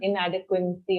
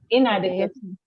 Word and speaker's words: inadequacy: There's no n sound in it. It's not inadequacy or something like that. Okay. It's inadequacy.